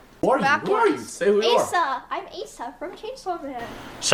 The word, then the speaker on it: Asa: This is a name that does have multiple pronunciations like Osa, Assa, Asha, etc. Asa.